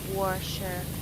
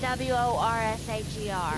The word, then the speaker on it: washer: It's spelled W-A-S-H-E-R, not W-O-R-S-H-E-R. Washer.